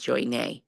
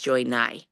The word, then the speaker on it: Nye: Joey, I always thought your name was Joy Nay. It's Joy Nye, guys. That's how you say it.